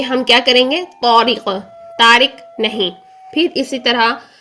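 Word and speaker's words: طارق: ना, यहाँ पर देखिए हम उर्दू में क्या कहते हैं, तारिक, ऐसा ही है। लेकिन जब हम इसको अरेबिक में प्रोनाउंस करते हैं तो हम इसको बोलेंगे तो, ता नहीं, तो क्या कहेंगे, तौरिक, तौरिक।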